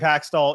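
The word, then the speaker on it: Hextall: Braun seems like the biggest problem might be wearing a suit and his name rhymes with Waxstall. Okay, this has started already. I do think that Dave Haxtell is going to be on the hot seat if they don't start winning.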